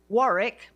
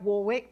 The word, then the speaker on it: Warwick: and I'm going to pronounce his name the way that an English person would which I'm told by he tells me is the correct way also in Australia Warick McKibben it looks like Warwick but it's not who